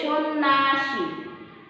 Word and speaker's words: সন্ন্যাসী: আবার প্রথমে শব্দের প্রথমে দন্তস্ব আছে, কিন্তু আমরা উচ্চারণে কি বলছি তালব্যস্য, কারণ ইংরেজি এস এইচ এর মতো উচ্চারিত হচ্ছে, এই যে সন্ন্যাসী, ঠিক আছে।